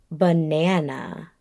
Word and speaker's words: banana: Now, the word that I'm going to give you is the word banana. Banana is spelled B-A-N-A-N-A.